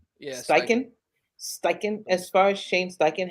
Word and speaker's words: Steichen: As far as the coach, Shane Steichen, how do you pronounce his last name? Steichen? Yeah. Steichen.